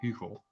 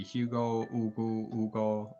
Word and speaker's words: Hugo: Since I have a whole video on it, it's pronounced Hugo, but you can all say Hugo, Ugo. I don't care.